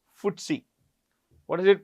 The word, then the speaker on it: FTSE: It's pronounced FTSE. What is it pronounced? FTSE. It's pronounced FTSE, okay?